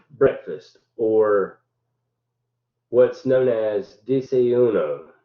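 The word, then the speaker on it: desayuno: uh normal's day's breakfast or what's known as disa uno it's spelled d-s-a-y-u-n-o this typically uh consists of a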